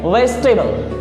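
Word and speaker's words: vegetable: voice टेबल ठीक है इसको पढ़ेंगे वेजिटेबल करेक्ट प्रनंसीएशन इसकी वेजिटेबल यानी की सब्जी अगला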